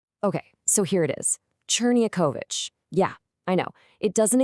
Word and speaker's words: Czerniachowicz: It's pronounced Czerniachowicz. Let's break it down. So you've got Cher, like in cherry, then Nye, like the Nye in Kenya.